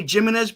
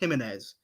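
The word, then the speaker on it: Jiménez: the LA the last last name is pronounced he menz he say J silent my last name himz yeah I was gonna say gimz but I I I recognize it's pronounced himene anyways um um yes Dan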